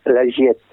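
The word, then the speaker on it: La Giettaz: Il faut savoir que les AZ se prononcent E, surtout quand elles sont derrière une double consonne. Comme l'Algétase, ça se prononce l'Algiette.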